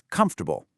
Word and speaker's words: comfortable: First, comfortable, an adjective. Notice the pronunciation there, guys. We don't say every single syllable. It's comfortable. It means providing physical ease and relaxation. These shoes are very comfortable for walking.